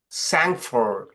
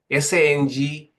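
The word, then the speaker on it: sang-froid: It is called sangford. S-A-N-G-F-R-O-D. Sangfro, probably the D is silent, which literally means cold-blooded, cold blood.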